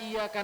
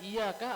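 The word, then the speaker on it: إِيَّاكَ: Hai apa orang yang tidak tahu Hai membaca iyyaka na'budu wa iyyaka nasta'in dalam kondisi kesalah membacanya biasa ia karena abu tua iyyaka nasta'in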